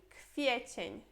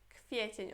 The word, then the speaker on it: kwiecień: Depois temos aqui kwiecień. Kwiecień. Olha que esse W a gente pronuncia como se fosse um F, né?